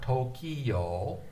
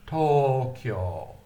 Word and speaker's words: Tokyo: The kyo is short, and then it's drawn out to O, Tokyo. So Tokyo has 2 long O's. So if you read Tokyo written in ROMAJI, you will see that the macron has been put over both O's in Tokyo. So whereas in English we say Tokyo, in Japanese you have to say Tokyo, Tokyo.